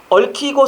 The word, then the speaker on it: 얽히고: 얽히고 설켜서는요. 얽히고 설키답니다. 이게 맞는 겁니다. 얽히고. 근데 표기는 저거지만 발음 자체는 리을 기역 발음이 될 수 없잖아요. 그냥 얽히고가 되는 거지.